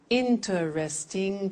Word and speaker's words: interesting: interesting that's quite difficult interesting how many syllables four interesting pronunciation in interesting relaxing